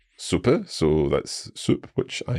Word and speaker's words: Suppe: We have a shorter one, and for example, Suppe. Suppe, so that's soup, which I am planning to have for my lunch after this episode.